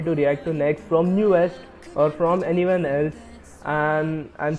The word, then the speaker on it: NU'EST: I hope I'm pronouncing it right. It's newest, right? I've heard them pronounce it, or I've heard people pronounce it as newest.